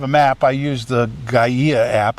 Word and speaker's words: Gaia: I used the Gaia app, I think it's pronounced, Gaia.